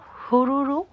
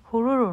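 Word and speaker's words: Haruru: এটা এখান থেকে 8-9 কিলোমিটার দূরে, নাম হলো হুরুরু ফল। হুরুরু না, হারুরু। এখানের উচ্চারণগুলো খুবই কমপ্লিকেটেড, কারণ এখানে সব মাওরি ল্যাঙ্গুয়েজ। তো যাই হোক, হারুরু ফলটা কিন্তু অনেক সুন্দর।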